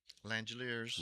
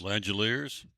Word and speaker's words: Langeliers: You've got your Athletics catcher that is Shea Langeliers Langeliers Make sure I said it right.